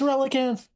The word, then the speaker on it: Relicanth: It's Relicanth.